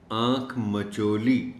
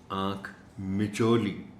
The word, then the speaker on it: آنکھ مچولی: بولا غلط جاتا ہے، اسے پڑھا اور بولا جاتا ہے آنکھ مچولی، یعنی میم پر زبر کے ساتھ، جو بالکل غلط ہے۔ اس لفظ کا درست تلفظ ہے آنکھ مچولی، میم کے نیچے زیر۔ آنکھ مچولی بچوں کا